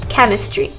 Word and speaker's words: chemistry: then we have chemistry ch together makes sort of like a k sound so we have chemistry uh you also have